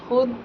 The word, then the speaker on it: خود: ساکت کے بارے میں۔ فارسی میں چند لفظ ایسے ہیں کہ ان میں واو ساکت ہوتی ہے، یعنی تلفظ میں ظاہر نہیں کی جاتی، اسے واو معدولہ کہتے ہیں، مگر یہ واو ہمیشہ خا کے بعد آتی ہے۔ ایسے لفظ بہت کم ہیں اور وہ یہ ہیں: خود، خویش، خوئے، خوش، خود،